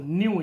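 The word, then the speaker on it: ν: थोड़ा वी बनाने में थोड़ा सा ऐसे कर देते हैं, इट इज कॉल्ड न्यू को ऐसे प्रोनाउंस करते हैं NEU, न्यू इसको पढ़ते हैं NEU, इस सिंबल को।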